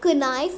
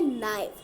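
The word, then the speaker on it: knife: सो हम लोग नाइफ माने होता है चाकू, और चाकू में हम लोग कनाइफ नहीं कहते हैं. कनाइफ नहीं हम लोग कहेंगे, हम लोग कहते हैं नाइफ. सो के इज साइलेंट.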